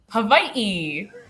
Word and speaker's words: Hawaii: Hawaii.